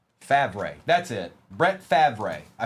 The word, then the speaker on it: Favre: Richie Grant and Brett Fer Fav. I think that's how it's pronounced. Favre.